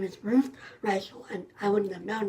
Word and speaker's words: Ruth Reichl: Her name is Ruth Reichl, and I wouldn't have known that if I had just read it in print.